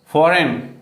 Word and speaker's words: foreign: फॉरेन, FOREIGN, फॉरेन, ठीक, यहाँ भी जी और एन आ रहा है तो जी का साउंड नहीं होगा। लेकिन इसमें कुछ एक्सेप्शन भी